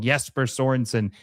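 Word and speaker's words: Jesper Sørensen: Someone got very upset when I said his name wrong. Jesper Sorensen.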